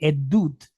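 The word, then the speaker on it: עדות: The root word is actually edda, but it's actually plural. So that's why we pronounce it edut. Edut is a testimony.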